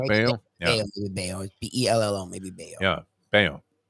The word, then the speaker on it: Bello: Yeah, I think it's Bayo is how you pronounce it, like Scott Bayo.